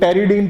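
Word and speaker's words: pteridine: हाँ जी, ये जो पहला प्रोसेस है पैरा अमाइनो बेंजोइक एसिड, और ये इसको पेट्रिडीन पढ़ते हैं, कुछ लोग टेरिडीन पढ़ते हैं, पी साइलेंट करते हैं।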